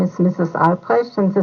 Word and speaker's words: Albrecht: pure Discussion Group uh what is the correct pronunciation of your name hello my name is Mrs ales and the spelling is a l b r